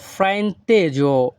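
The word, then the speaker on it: frainteso: এই বাক্যের ইতালিয়ান ভাষা হবে মি আ ফ্রাইন্তেজো। ইতালিয়ান ভাষায় এস ও এর উচ্চারণ হবে জো।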